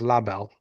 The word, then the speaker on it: Elle Est Belle: And I'm no I'm Matt just texted me on how to say it. I think he says La Belle. I think it's La Belle, the French way to say it.